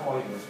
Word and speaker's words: Euler: Y el diptongo EU en alemán se pronuncia OI, por eso se pronuncia Euler.